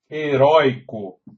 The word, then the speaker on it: heroico: a palavra heroico ó heroico a sílaba tônica é a penúltima tem o ditongo aberto